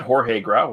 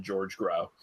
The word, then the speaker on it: Jorge Grau: lea completely butcher every single name I got Jorge growl right you did yes but I researched that one I looked up to pronunciation because otherwise I just would have said George growl Miguel Rubio it is starring Christina Gobbo as